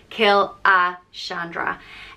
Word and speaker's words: Killashandra: letters right but um and it's pronounced kill a Chandra and this one isn't